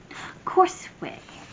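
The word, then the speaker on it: Csorwe: Corsway.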